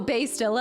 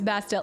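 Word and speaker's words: Bastila: I thought her name was Bastille. Yeah, it's because I wasn't able to say it right, and so we eventually just switched to Bastilla to make it easier for me.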